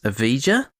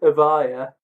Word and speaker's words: Evija: A new EV, the Lotus Evija. Yeah, you're wrong. Yeah, I'm wrong. It's apparently pronounced the Lotus Evija, depending on where you're from.